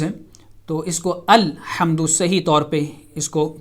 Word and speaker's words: الحمد: دوسرا لیٹر جو ہے لام، وہ ساکن ہے، اس کو سکون کے ساتھ ادا کیا جائے گا، اس پہ زبر نہیں پڑی جائے گی، جیسا کہ آپ یہ